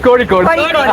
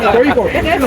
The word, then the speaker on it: Kozhikode: You pronounce it as കോഴിക്കോട്. Kozhikode. Okay, കോഴിക്കോട്.